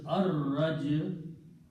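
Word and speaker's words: الرجع: And again al will remove one dhamma and it will be pronounced as ar-raj'u.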